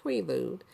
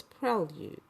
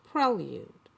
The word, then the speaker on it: prelude: breakthrough I've been saying Prelude and I found out I was mispronouncing that word so it's the emphasis is after the L and then it's ued so it's Prelude Prelude so I was good